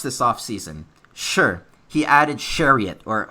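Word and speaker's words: Chiarot: Sure, he added Chariot, or how do you pronounce that name? I have trouble with that. Sherratt.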